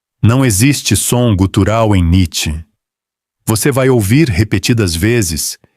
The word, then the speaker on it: Nietzsche: O nome é, em aproximação grosseira, Nietzsche. 2 sílabas.